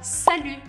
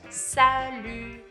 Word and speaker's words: salut: Salut, salut. Tem esse som que não existe em português, que é o som do U, U. Você vai precisar fazer biquinho aqui, ok?